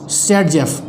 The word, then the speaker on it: Saytzeff: Alexander Alexander जेस्टेव ने, इनको हम बोलते हैं सेटजेफ।